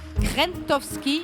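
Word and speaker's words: Krzentowski: Krentowski, sans prononcer le Z.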